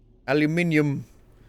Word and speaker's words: aluminium: Aluminium. The correct way of pronouncing it.